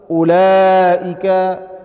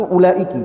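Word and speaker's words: أولئك: Ulaika sirarul khalqiallah." Mereka kata Rasulullah atau di tadi saya baca ulaika ya, bisa juga dibacanya ulaika, bisa juga dibaca ulaiki. Yang lebih fasih yang lebih tepat itu ulaiki.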